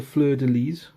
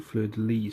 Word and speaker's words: fleur-de-lys: for correcting my pronounciation you do pronounce the S when you say fleur de lys and like I was doing saying fluidly so not only you